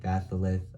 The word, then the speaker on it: batholith: batholith that's how that is how you say batholith um this is actually a part of Earth's